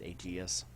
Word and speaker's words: Aegis: I know I think some people pronounce it AAS so yes here we